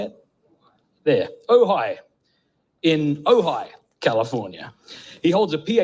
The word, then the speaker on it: Ojai: There, Ojai, in Ojai, California.